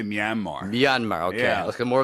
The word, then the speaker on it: Myanmar: of geography in Asia I i pronounced as Mayan mar is that how you pronounce it i would say myanmar yanmar yeah let's get